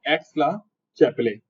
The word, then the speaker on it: Aix-la-Chapelle: तो ये नाम ध्यान रखना है, एक्स-ला-चैपेले, चैपले नहीं होता, चैपले होता है वैसे वो, लेकिन चैपले भी बोलेगा तो कोई दिक्कत नहीं है।